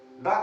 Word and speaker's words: the: अर्थात जिस शब्द का पहला अक्षर कॉन्सोनेंट होगा उसके पहले अगर THE का प्रयोग किया गया है तो उस THE का प्रोनाउंसिएशन हम द करेंगे, अर्थात यह शब्द करेंगे